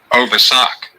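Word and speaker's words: ovisac: O V I S A C. And okay, wait a minute here. Over sock. Over sock. Oh, that's how you pronounce it.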